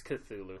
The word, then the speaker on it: Cthulhu: good point Solomon you may have heard it pronounced tattoo good yeah but that's not the way it is it's Cthulhu kazoo yep or you want to have seen